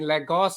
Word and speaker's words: Lagos: And I think you're based in Lagos, isn't it? Did I pronounce that right?